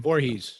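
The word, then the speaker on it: Voorhees: even Gary Vorhees um Vorhees is how you pronounce his last name Vorhees Vorhees Vorhees like like Jason Vorhees oh gotcha uh yeah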